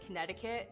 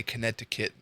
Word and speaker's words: Connecticut: Michigan I don't think I don't think I've ever anybody say Connecticut it's always Connecticut there's a a Connecticut there's a D in there I mean there's a T but everybody says it with a D I've never heard